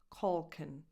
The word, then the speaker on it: Culkin: Macaulay Culkin. Macaw. So the stress is on caw. So the first vowel is just a schwa. Macaulay. Macaulay Culkin. Like Colt, Culkin. Last vowel, a schwa.